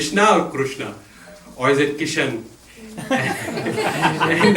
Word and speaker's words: Krishna: Krishna is actually a very hard word to pronounce correctly. There na also is a difficult na. It's a retroflex. It's like ta, na. Krishna. It's there, not Krishna. It's not out here. Krishna. Not Krishna. Krishna.